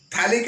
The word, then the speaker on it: phthalic: है, थैला फिर थैली, तो इसको पथैली नहीं पढ़ देना कहीं। थैलिक एसिड पथैलिक नहीं होता है, इट इज थैलिक acid, P silent है इसमें।